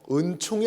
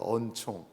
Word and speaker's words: 언총: 언총이라는게 있다 그럽니다 언총 은총이 아닙니다 은총 경상도 발음이 어하고 의가 헷갈려가지고 제가 어떤 때 이렇게 갑자기 이렇게들을 때도 있어요 근데 이게 은총이 아니라 언총이라는게 있습니다 언총 언총이라는 건 뭐냐면 말